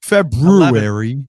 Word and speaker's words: February: February. Yeah, Febru I I always try and get the R in there because, you know, trying to pronounce it correctly.